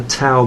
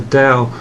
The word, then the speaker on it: Dao: yang is called the DAO okay sometimes pronounce the towel when it's a Dow and they basically that's